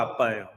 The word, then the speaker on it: Abba: 근데 아빠는 풋노트가, 세번역 성경의 풋노트가 아버지를 뜻하는 아람어가 아빠예요. 우리말 아빠랑 발음이 똑같아요. 그리고 알파벳에는 ABBA를 씁니다. 노래하는 아바하고 똑같아. ABBA를 쓰는데 이거는 아람어예요.